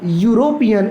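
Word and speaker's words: European: हो रहा है, लेकिन जब इस शब्द को प्रोनाउंस किया जाएगा तो इसको बोला जाएगा यूरोपियन, यानी कि या से शुरू हो रहा है और या से शुरू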